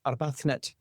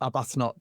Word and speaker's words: Arbuthnot: It's actually a Gaelic name. So, correctly pronounced in Scotland, it's Arbathnet, but down here, Arbathnot does well and that's anglicized and but we've been called many things.